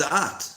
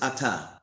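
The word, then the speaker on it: את: It says at, right? Mm-hmm. So why does it say at? Actually, you pronounce it ata.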